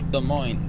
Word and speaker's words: Des Moines: The Des in Des Moines is pronounced the. The. Des Moines.